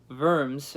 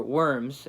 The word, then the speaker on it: Worms: named a diet of worms or worms either way you can pronounce it and at this trial